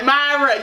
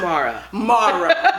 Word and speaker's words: Mara: I mean, Myra. Yes. First of all, can you tell me how it's properly pronounced? Well, my name's not Myra. It's Mara.